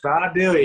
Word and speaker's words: Vidalia: 24th at this year's Vidalia Onion Festival. I hope I said that correctly. Vidalia. Vidalia? Vidalia. Yeah, you got to bring a southern accent. Ah, okay. Vidalia.